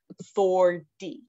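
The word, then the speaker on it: forty: But then 40, again, we do not pronounce the T. It would be pronounced like this, 4D.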